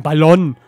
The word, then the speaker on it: Ballon: Ein Ballon. Ballon mit G am Ende.